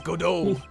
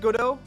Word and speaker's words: Godot: lost a case is it pronounced godo it's godo godo guys uh French don't care about the